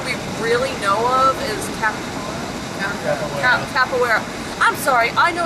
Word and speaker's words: Capoeira: How do you pronounce it? Capara? Capoeira.